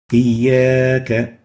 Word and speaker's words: إياك: إياك. We realize that we have extended the vowel alif for a certain period of time, a duration.